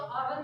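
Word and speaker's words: hour: हावर जैसे किसी को तो हावर तो बोलते नहीं हो, हावर बोलते हो, तो आवर में एच जो है वो आपका साइलेंट हो गया, तो जो शब्द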